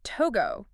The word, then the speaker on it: Togo: It's one of those that can trip people up with pronunciation as togo, not to go like the verb.